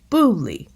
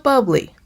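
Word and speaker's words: bubly: a harder sound and it's booley not bubbly however no matter how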